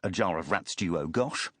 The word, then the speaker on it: Ajit Chaturu Agash: A fakir by trade, Ajit Chaturu Agash, pronounced a jar of rats duo Gosh, had decided to travel incognito for his first trip to Europe.